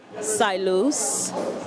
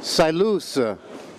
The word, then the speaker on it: Sailuz: Wow what's your name sigh loose sigh loose how do you spell that SI ilu z ki lu z what's